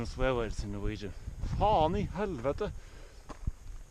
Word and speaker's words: faen: Faen i helvete!! When you use that phrase, it's important to open your mouth as wide as possible.